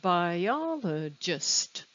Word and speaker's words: biologist: biola just four syllables where is the stress by y'all it's on the second syllable yeah i can tell because there's a pitch change and it's a little stronger biologist the next word is